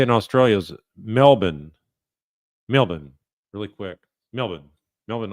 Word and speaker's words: Melbourne: So I was saying calling this Melbourne, but the way they say in Australia is Melbourne.